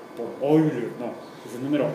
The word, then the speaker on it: Euler: Se escribe Euler, pero se pronuncia Euler, en alemán. El diptongo EU en alemán se pronuncia OI.